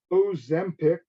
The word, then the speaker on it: Ozempic: Ozempic. And it's Ozempic. Ozempic. Can you spell that, please?